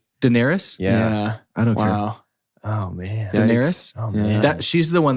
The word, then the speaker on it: Daenerys: watching season one in Denarius like her dragons are born it's really yes and then I just mispronounced her name Daenerys yeah that she's the